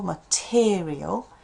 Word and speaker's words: material: If the stress here is in the second syllable material so that unstressed sound here unstressed it's not material it's material. Now, it's common that people kind of go, "I don't say that."